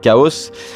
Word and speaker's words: XAOC: Pour le coup c'est un Zagreb de XAOC mais qu'on prononce Chaos, qui est un très bon filtre d'ailleurs au demeurant.